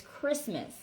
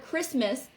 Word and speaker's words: Christmas: the first word is christmas when we say the word christmas we do not pronounce the t it is silent and the same goes